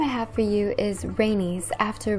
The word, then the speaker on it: Rhaenys: the next name i have for you is rhaenys after rainy's targaryen spelled r-h-a-e-n-y-s and she assisted in aegon's